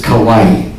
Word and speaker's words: kawaii: is cute the Japanese word for cute is kawaii kawaii but if you mispronounce it did you say kawaii so your